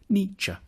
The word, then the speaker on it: Nietzsche: The first bit should sound like ni, the second like cha, Niytche.